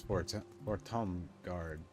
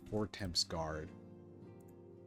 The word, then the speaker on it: Fortemps: It's It's such a habit as a filthy American to just say house vorts guard. But apparently I'm wrong.